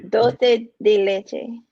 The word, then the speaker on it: dulce de leche: How you pronounce it? Dole. dulce de leche.